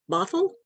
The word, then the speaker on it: Bothell: education at the university of washington is that pronounced bothell yes awful all right i got it right